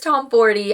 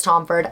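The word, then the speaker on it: Tomforde: For the month of September, my favorite read was The Right Move by Liz Tomforty. I'm so embarrassed I've been saying Liz Tomford.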